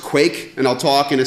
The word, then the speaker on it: Quaich: what we're talking about the system it's pronounced quake and I'll talk in